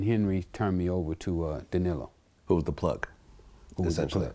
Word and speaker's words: Danilo: So when you started dealing with Blandon, how do you pronounce the name? Blandon. Danilo? Danilo Blandon.